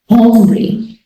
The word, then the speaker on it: hombre: In general, this letter is silent. However, the breathy aspiration is maintained. For example, hombre.